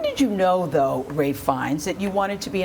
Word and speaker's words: Fiennes: version of that name, and my surname is Fiennes.